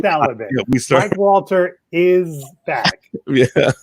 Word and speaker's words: Walter: Peter, please say that slowly because it sounded like you put an S on the end of my name. No, I did not. Walters is back.